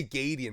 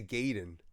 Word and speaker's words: Gaiden: with Ninja Gaiden but you say Gideon I say Gayden that's interesting I said well before I say Ninja Gaiden Ninja Gaiden I think it's pronounced Ninja Gaiden because it's g-a-i yeah maybe I mean